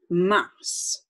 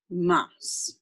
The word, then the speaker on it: mars: next is mass looks like mars but they pronounce it mass m-a-r-s mass next like the singer avril lavigne a v